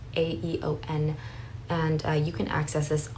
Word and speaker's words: Aeon: I think that's how it's pronounced. It's Aeon.